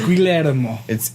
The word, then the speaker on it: Guillermo: It's Guillermo. I know how to say my own name, okay? It's Guillermo.